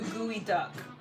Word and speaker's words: geoduck: If you're going to make clam and green curry sauce, you need to go do gooey duck.